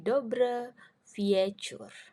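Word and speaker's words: dobry wieczór: yang terakhir ada lah tulisannya dobri Vie Vie chor Tapi bacanya jadi dobre vicur Oke artinya selamat sore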